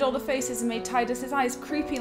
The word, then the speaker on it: Tidus: Yes, some people say it should be pronounced Tidus, is it? I'm not having that. It's Tidus.